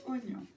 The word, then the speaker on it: oignon: donc virgule, comme l'oignon, ça s'écrit oie, oignon, mais se prononce oignon.